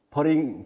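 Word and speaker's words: putting: 그 퍼팅의 용어를 미국 사람들은 퍼링 퍼링이라고 이렇게 티 발음을 약하게 하는 이런 용어를 씁니다만 여러분들이 듣기 편하시도록 퍼팅이라고 어 용어를 통일해서 쓰겠습니다.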